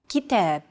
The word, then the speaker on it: كتاب: كتاب. كتاب. Notice that the second syllable is stressed. It's pronounced longer and louder, while the first and final syllables are shortened. كتاب.